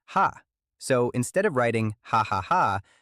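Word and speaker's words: ห้า: In Thai, the number five is pronounced ha.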